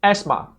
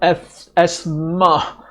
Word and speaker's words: asthma: Here are some commonly mispronounced words: debris, receipt, and asthma. So, it's not de-breeze, okay? The the S is silent, right? And it's not as-ma, right? The th is silent, all right?